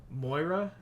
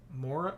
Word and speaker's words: Maura: hears oh so okay you said it rhymes with Laura so Moira Maura oh man I'm so